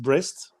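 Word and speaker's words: Brest: 12th on the ladder which is i think pronounced breast and niece niece was the home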